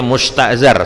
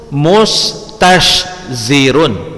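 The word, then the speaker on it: مستشزر: Afwan, tadi Ustaz baca musta'zar, salah. Wa minhu musta'zirun, mustashzirun. Nah, berat kan pengucapannya, agak sedikit berat kan?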